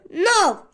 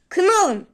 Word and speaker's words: know: Kov diye yazırlarsa onu no diye okuyacaksınız. Knit diye yazılır. Knit diye okunur. Burada da aynı şey geçerli. Knowen değil. No k'yi okumuyoruz asla.